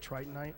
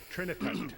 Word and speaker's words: trinitite: The tritonite. Is that how you say it? Trinitite. Trinitite. Trinitite.